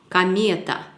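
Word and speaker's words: комета: Il y en a 3 ici. Ko, me, ta. 3 voyelles. Et seulement une voyelle, une syllabe qui est accentuée. Et c'est une syllabe mie. Ce qui signifie que la prononciation sera Kameta. Kameta.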